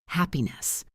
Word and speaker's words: happiness: Listen to how the stress shifts. Happy. Happiness. The stress moves to the end.